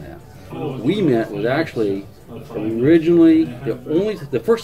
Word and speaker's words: Ouimette: How do they normally pronounce it? Ouimette or Omelette sometimes. I've heard everything. Yeah. But it's Ouimette.